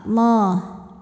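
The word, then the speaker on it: الله: Lam jalalah dibaca secara tafkhim sebab huruf sebelumnya berbaris fathah, maka dibacanya tebal, Allah.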